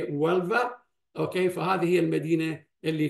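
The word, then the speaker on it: Huelva: هذه صوره ايضا حديثه، كما تلاحظون الاتش هنا مثل لفظ، فهي ولفا، اوكي، فهذه هي المدينه اللي كانت التي توفى فيها ابن حزم الاندلسي.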